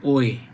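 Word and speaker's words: 외: এই কাজের সাথে জড়িত ওয়ে ছাড়া এই যে ও আর ই যদি থাকে এটা উচ্চারণ করবেন ওয়ে সংশ্লিষ্ট ব্যক্তি ছাড়া ছুরি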